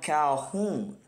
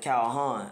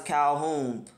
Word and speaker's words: Calhoun: got your boy Adam Calhoun you know I'm saying y'all correct me in the last video I appreciate that you know what I'm saying y'all told me that uh you don't pronounce it Calhan I would have I